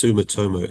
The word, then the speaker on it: Sumitomo: And I couldn't pronounce the other one. It's Sumitomo.